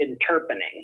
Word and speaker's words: interpening: So you guys have something called interpening. Am I pronouncing that right? Well, we pronounce it interpening.